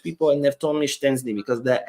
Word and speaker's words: Szczęsny: me that it's pronounced Szczęsny and not the way the other people told you. There is no T sound.